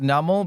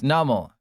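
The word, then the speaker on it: Numel: So, it's like a numb camel and it's numl.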